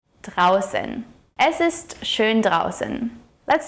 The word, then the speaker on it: draußen: the au here is pronounced as ow - ow and the funny looking b is pronounced as a harsh 's' sound like in the word snow. draußen - draußen Es ist schön draußen.